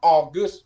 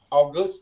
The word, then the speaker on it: August: Đọc nhấn giọng lên ở cái âm sau.